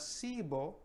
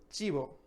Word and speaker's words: chivo: So it's not cibo, but chivo.